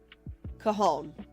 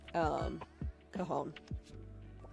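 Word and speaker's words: Cajón: Cajon. So the J is the H sound. Okay. Cajon.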